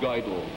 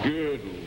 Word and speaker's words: girdle: It's not guidel. What is it? Girdle. Girdle. Girdle.